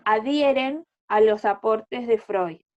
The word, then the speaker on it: Freud: se llama Sigmund Freud, se escribe Freud, pero se dice Freud, y el psicoanálisis es una rama de la psicología que fue fundada por él.